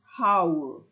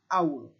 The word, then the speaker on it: hour: instead so our okay we don't say how we say ow the H in front is a silent h can you see this